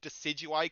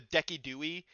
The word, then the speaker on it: Decidueye: That's where the famous mispronunciation of Decidueye comes from, the Dekidui pronunciation.